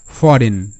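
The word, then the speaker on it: foreign: রিজাইন রিজাইন এখানে একটা শব্দ মনে রাখতে হবে ফরেন ঠিক আছে এখানে কিন্তু আই এন আইন হবে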